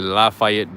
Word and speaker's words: Lafayette: Not that there's another one, but anyways, this is the Lafayette building.